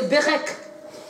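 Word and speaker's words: berekh: Le mot bénir en hébreu c'est berek. Berek qui s'écrit B-E-R-E-K-H. Et le mot bénédiction c'est beraka.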